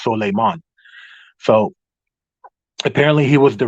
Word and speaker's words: Solomon: Solomon, which of course in that part of the world, you don't pronounce it Solomon. It's pronounced Solemon.